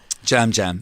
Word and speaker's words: Yam Yam: Jam Jam. Jam Jam. It's spelled Yam Yam, but it's pronounced Jam Jam Jam.